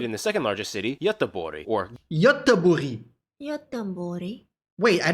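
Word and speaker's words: Göteborg: is located in the second largest city or gothenberg for the misguided English speakers largest cityi or it's Gutenberg it's how to pronounce it in Swedish guten wait what the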